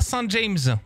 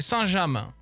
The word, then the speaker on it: Saint-James: Et ça se prononce pas Saint-James, alright? C'est Saint-James.